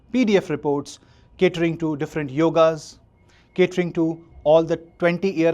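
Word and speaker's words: योग: So Yog or yoga, I will use the term yoga more, but yoga is a wrong word pronunciation. It is more a Western pronunciation, but the true pronunciation is Yog.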